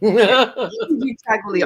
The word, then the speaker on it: Kujichagulia: The Kujichagulia. Yes. Kujichagulia. Kujichagulia. Self-determination. Yes. Yeah. Yeah, I'll let you say it. Chagulia. Kujichagulia. All these words are in the Swahili language.